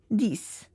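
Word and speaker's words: dix: Uh you don't pronounce the X and you just just say it as this.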